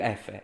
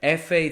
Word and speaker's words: Effe: My dad has a construction business in Italy, and it's called Edil Effe. Effe is the pronunciation of the letter F in Italian. Effe, that's how you pronounce it.